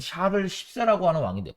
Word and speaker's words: 샤를: 그 왕정이 부활 했을 때 굉장히 도망 이 샤를 14 라고 하는 왕인데 발음을 주의해야 됩니다 자를 10세 이 샤를 10세가